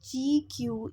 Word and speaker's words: GCEU: Google Computer Engine Unit Google Computer Engine Unit GCEU, which is pronounced as GQ, is an description of computer resourcing.